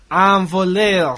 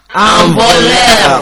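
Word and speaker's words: un voleur: Envoleur. Répétez, les étudiants. Envoleur. Répétez. Envoleur. Patrick, can you spell it for them?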